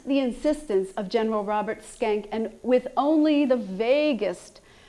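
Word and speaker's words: Schenck: robert skank says and that's really how you say his name at skank he they uh teased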